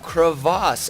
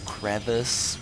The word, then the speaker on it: Crevasse: be on the map Crevasse, and whoever named this map decided to make a lot of people angry. Because typically you'd say, you know, crevice, but really it's actually, this map is pronounced crevasse.